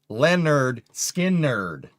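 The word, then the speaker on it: Lynyrd Skynyrd: Leonard Skinnerd, man. Pronounced Leonard Skinnerd.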